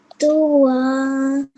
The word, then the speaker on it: طوى: Dua. Very good. Excellent. So you needed to elongate that for 2 seconds.